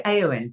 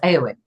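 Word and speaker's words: Éowyn: For a start, as English speakers, the emphasis would usually be on the second syllable. So that would be Eowyn, right? But it wasn't that. It was Eowyn, or at least that's what we were told.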